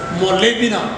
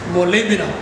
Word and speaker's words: molybdenum: the macronutrient molemina molemina i'm very sure many of you may have problems in pronouncing that one more lamina try to pronounce that what is known as molybdenum molybdenum then six boron boron